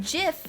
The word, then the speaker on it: GIF: It's pronounced GIF, like the peanut butter.